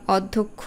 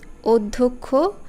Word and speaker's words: অধ্যক্ষ: আমি যে বাক্যটাতে বললাম অধ্যক্ষ গদ্যপদ্য আমরা প্রায় এরকম বলে থাকি এই শব্দগুলোর উচ্চারণ ভুল আসলে অধ্যক্ষ গদ্য পদ্য সেরকম তথ্য নয়